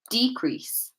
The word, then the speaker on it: decrease: So if we're placing stress on the first part of the word because they are nouns, the following words will sound like this: decrease, content.